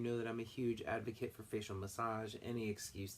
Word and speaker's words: ADVEKET: is at adve ket it's advocate 1 spelled phonetically used as a noun